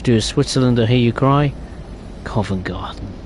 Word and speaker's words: Covent Garden: or hear you cry Covent Garden right this one's always interesting because people always get the name wrong it's Covent not convert Convent elephant and Castle again